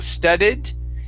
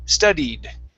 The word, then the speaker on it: studied: the word studied now we're focusing on this long e sound so instead of saying studded it's stud d studied good good much better